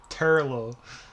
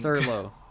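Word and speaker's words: Turlough: Turlo, I think. Thurlow. Turlo. Like furlough. Turlo.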